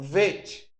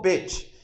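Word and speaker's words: ב: Quando ela tem um pinguinho aqui, ó, se pronuncia bet, é B, né? Como nosso alfabeto AB. Então pronuncia B, bet, bet. Se tirar o acento, aí você pronuncia vet, como fosse o V de V, né? Vet, vet. Então com acento é bet. Sem o acento é vet.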